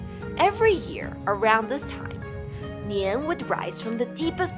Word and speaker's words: 年: This story may also explain why the word year is pronounced Nian in Chinese, and why the celebration of Chinese